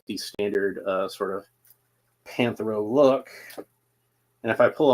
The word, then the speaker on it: Panthro: Panthro.